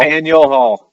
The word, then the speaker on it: Faneuil Hall: I always pronounce it wrong. Faneuil Hall? Faneuil Hall.